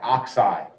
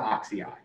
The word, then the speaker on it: oxide: it chloride chloride fluoride oxide it's not oxidized nitride it's not phosphoride